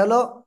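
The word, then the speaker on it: ح: এটা আমরা বলবো হলো গলার মধ্যখান থেকে হালকা চেপে পেয়ে আমরা এই অক্ষরটা উচ্চারণ করব আর এক আলিফ টেনে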